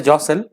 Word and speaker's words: jostle: अगला शब्द है जॉसल। ध्यान रखिएगा यहाँ पे टी साइलेंट है।